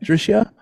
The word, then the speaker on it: Drisha: And also, how would I say that? Drisha? Yeah, Drisha, you're pronouncing it right.